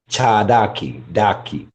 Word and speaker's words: Cherokee: The way you pronounce it, the R sounds like a D. Cherokee, Chadaki, Daki, like Cherokee, not Cherokee, Cherokee.